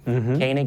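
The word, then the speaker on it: Koenig: Kanig is not spelled phonetically because it's a German word.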